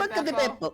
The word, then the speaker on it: Buca di Beppo: Boca de Buca di Beppo. Beppo! It's a real restaurant. He's saying it right. You have to say it with a funny Italian accent or else it doesn't work.